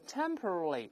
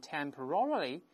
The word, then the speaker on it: temporarily: 的字典注音往往是 temporarily，但在美音中呢往往重音后移，读成 temporarily 重音会后移。